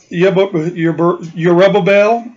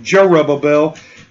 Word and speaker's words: Yerubbabel: book of Judges, and then Yerubbabel, or that's how it would be pronounced. I'm stuttering on it this morning. Forgive me. Yerubbabel. It would say Jerubbabel in the English, but Yerubbabel, who is Gideon, and